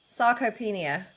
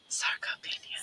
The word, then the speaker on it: sarcopenia: How do you pronounce it again, Michelle? Sarcopenia. Sarcopenia.